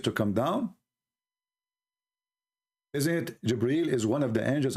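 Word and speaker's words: جبريل: It's not Gabriel, by the way, it's Jibreel.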